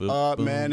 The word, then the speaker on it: Amen: I picked the game just so I can tell Dan Le Batard how to pronounce Amen Thompson. It's Amen and Sar.